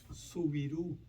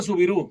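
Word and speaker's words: Soubirous: Subirú. Se pronuncia Subirú.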